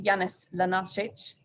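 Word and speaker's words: Janez Lenarčič: uh in march this year the eu commissioner janis lanarchich that's pronounced rightly created something of a stir when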